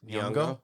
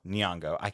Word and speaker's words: Nyong'o: Nyong'o? Nyong'o.